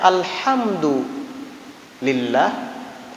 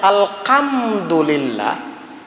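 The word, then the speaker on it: الحمد لله: makna kalau kita membacanya alhamdu lillah artinya segala puji bagi Allah isinya kita memuji Allah itu Tapi kalau kita membacanya alkhamdulillah Alhamdulillah berarti pakai Kav bukan hak lagi artinya apa alkam Duh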